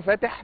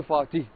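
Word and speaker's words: Fatih: يعني مثلا لو انت رايح الفاتح لو قلت له فاتح مش هيفهمك، لازم تقول له فاتي، يعني فاتي.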